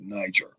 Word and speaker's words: Niger: that was called niger now you wouldn't pronounce it because it doesn't have the two g's and back then uh 2000 years ago you did not have the niger being pronounced you're going to pronounce it niger as it's written in the bible with the 1g so um let me